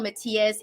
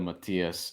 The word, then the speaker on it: Matías: this one it's gonna be a banger subril Matthias and Jeremiah's Ponce this one Matthias a minus